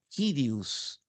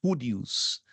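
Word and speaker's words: κύριος: temos um outro nome kirius pode também aparecer como curius mas frequentemente a pronúncia seria kirius né porque é k kon mas repito há variantes que você vai encontrar curius mas o melhor ainda como Já estudamos nas noções de grego é kirius senhor designa Deus como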